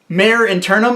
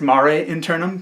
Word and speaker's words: Mare Internum: Mare Internum, although I found out recently that it's pronounced Mare Internum because I went and watched her Patreon video.